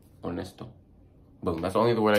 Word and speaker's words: honesto: Letter H is silent. I can't even freaking think of any words with the letter H right now, but just know when you see that letter H, it's silent. Like honesto.